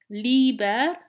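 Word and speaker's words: līber: tea the flourishing fields liebherr liebherr liebherr room free this is different from liver with a short I which is a book Magnus Magna Magnum big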